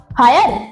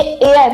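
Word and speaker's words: heir: इसको बच्चों आप क्या पढ़ोगे, हायर? ये हायर नहीं है, ये एयर है।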